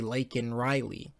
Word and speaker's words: Laken: When he said her name, he pronounced it wrong. He couldn't even say Laken Riley. He is so out of touch with this situation, and he cares so little about Laken Riley's loss of life and her family, that he went on to say her name by calling her Lincoln Riley.